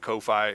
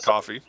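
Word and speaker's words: Ko-fi: You can send it through coffee. Uh I have a coffee link. Um some people call it Kofi. It is coffee.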